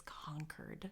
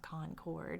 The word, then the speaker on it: Concord: yeah it's not con I walked around saying Concord until somebody said it's conquer it's not Concord and I thought how